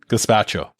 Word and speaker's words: gazpacho: Here, gazpacho. That's the pronunciation.